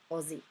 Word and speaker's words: Aussie: So it's sort of pronounced with the OZ, Aussie, instead of, I can't even say it the other way.